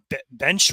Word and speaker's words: Bensch: Bench Road. Can't pronounce that correctly, but it's BENSCH.